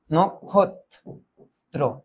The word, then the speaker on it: নক্ষত্র: আমার ঠিক হইছে তো এটার আগে অ থাকলে হয়ে যায় ও অ থাকলে হয়ে যায় ও আর এটা হবে দীপ্ত এটা হবে দীপ্ত তাই এটার উচ্চারণ হবে নোখ নোখ ক্ষত নক্ষত্র নক্ষত্র ঠিক আছে নক্ষত্র নক্ষত্র